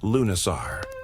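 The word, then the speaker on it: Lughnasadh: Lugnisad pronounced Lunasar, the Celtic festival honoring Lug, the god of light craftsmanship and war.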